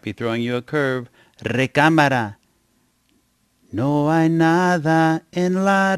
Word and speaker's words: recámara: But when a word ends with a vowel, we usually put the accent on the second to the last syllable, recámara.